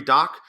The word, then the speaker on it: Dach: But one of the ones I saw was Kirby Dach. The Ducks took as 9th in some of the mock drafts. The last name is pronounced Doc, even though it's D-A-C-H.